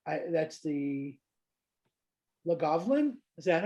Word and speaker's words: Lagavulin: that's like that's the Lagavulin. Is that how you say it? Lagavulin? I Yeah, tried. I did Lagavulin. my best. Both are right. Yeah, Both are right. Lagavulin.